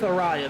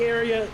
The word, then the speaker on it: ARCA: We're going with Ariya. That's our pronunciation we're rolling with, right? Okay, I like it. I agree. I think area can be a little tough to get out there.